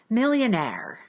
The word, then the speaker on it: millionaire: In most words of French origin, you will stress the final syllable of the word. Take a look at these examples. Millionaire, ballet, boutique, silhouette. So in words that are from French, most often the final syllable is stressed.